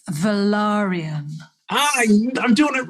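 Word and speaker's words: Velaryon: give you a quick lesson yes please it's velarium i'm doing it wrong yeah no only because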